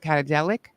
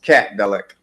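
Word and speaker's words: Catdelic: How do you say it? Cat Cat Catadelic. It's just Cat Delic.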